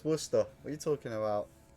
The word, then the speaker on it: Worcester: Worcester. Like wuss as in you wuss and then t worse. Not Warchester. Oh, Warchester.